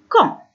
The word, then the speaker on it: quand: Quand هو يتكتب دي à la fin لكن c'est une lettre muette، هو حرف أصم إذن لا ننطقه.